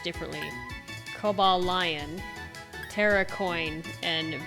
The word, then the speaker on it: Terrakion: See, when I first learned of these deer things, I pronounced all their names differently. Cobalt Lion, Terracoin, and Veriz Eon.